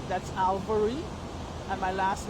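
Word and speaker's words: Alvery: My first name is spelled um A L V E R Y. That's Alvarey.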